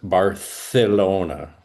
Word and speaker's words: Barcelona: You know that in Spain some people will say, "Well, the right way to say um uh Barcelona is Barcelona like with a th."